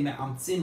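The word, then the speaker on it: מעמצין: So you see it's with an ayin, that's the right way to say me'amtzin with an ayin.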